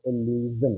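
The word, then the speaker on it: allusion: एल्यूजन, देखिए एक और वर्ड होता है इल्यूजन होता है। क्या होता है? इल्यूजन। इसका क्या मतलब होता है? भ्रम। तो ये भ्रम नहीं है, ये ए है यहाँ पर और यहाँ पर क्या है? आई है। ये आप ध्यान रखिएगा।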